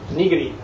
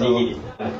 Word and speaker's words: nigiri: No, it's nigiri. Right, so, nigiri.